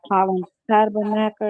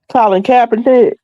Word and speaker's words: Colin Kaepernick: just did the autopsy on the guy that Colin Tabernacle, I guess how you pronounce his name. Last year, September. How you pronounce his name? Colin Kaepernick.